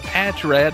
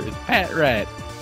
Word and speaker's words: Patrat: up saying heck red it's not patch rad either Patrat well god damn a